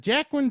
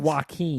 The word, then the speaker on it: Joaquin: Is it Jacqueline Phoenix? It's Joaquin. Joaquin. I got a mental block when it comes to his name. I always look Jackin'. at Those are called Joaquin, Jacqueline now.